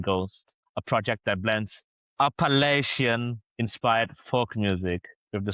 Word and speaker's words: Appalachian: Appellacian. Appalachian.